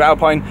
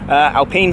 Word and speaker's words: Alpine: great day so hugely thanks once again to our pine Alpine sorry I pronounced it correctly the whole way through the